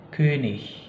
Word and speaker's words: König: Dan itu akan dilafalkan seperti ya, seperti kata misalnya kata König, König, dan juga lustig, lustig. Jadi cara bacanya bukan lagi König dan lustig, bukan, tapi König, lustig, gitu ya.